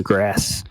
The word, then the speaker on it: grâce: someone oh yeah that's the grass is the correct pronunciation that's you know still